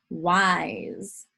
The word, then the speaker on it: wise: Remember that when we have an S between 2 vowels, like in a vowel consonant E syllable, the S can sometimes make the sound Z.